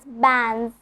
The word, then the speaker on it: bands: So in the word bands, here is the apostrophe S and I'm telling it as bands. I'm not pronouncing the letter D.